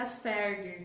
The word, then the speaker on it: Asperger: E ele pronuncia Asperger, que é a pronúncia do alemã, né? É alemã a pronúncia.